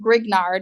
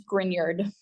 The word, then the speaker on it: Grignard: a grard reagent right it's not pronounced grignard it's grard it's like French or something I don't know all